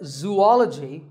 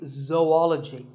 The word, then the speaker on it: zoology: do you say it if you said zoology it's actually wrong that is a very common mispronunciation this is actually zoology though and ecology zoology